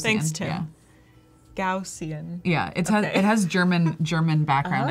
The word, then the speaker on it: Gaussian: Gaussian. I never know how to say that. I looked up the pronunciation on YouTube, and it's like it's Gaussian, Really?